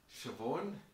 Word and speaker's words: Siobhan: So it's Siobhan. There's no way to pronounce it phonetically with the spelling.